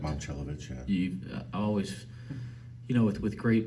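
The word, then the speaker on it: Momčilović: Yeah, do you pronounce correct? Momcilovic, yeah.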